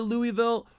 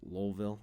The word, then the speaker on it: Louisville: Imagine yourself with a bag of rocks in your mouth when you say Louisville, and then you'll get it right.